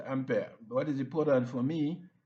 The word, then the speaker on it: ampere: Ampere some pronounce this as ampere because it's French. So being French it is sounds like ampere or just ampere.